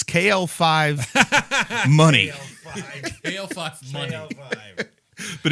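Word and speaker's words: Muny: It's KL5 money. KL5 money. KL5. But it's spelled M-U-N-Y.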